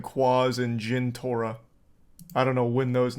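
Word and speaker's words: Jentorra: __ ] clue also Jan tarot's that name didn't even come up you got that name wrong it was Gin Torah yep that was the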